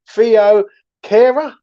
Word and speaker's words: Thilo Kehrer: have signed a player and it is confirmed theo cara is his name you know i mean i was pronouncing it so wrong yesterday with mitchell but